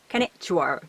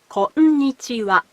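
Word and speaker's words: こんにちは: For example, konnichiwa is not konnichiwa, but konnichiwa. It has 5 syllables.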